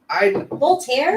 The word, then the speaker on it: Walter: Voltaire? There's a guy named Walter, but I'm saying it as his name is pronounced Voltaire. Voltaire.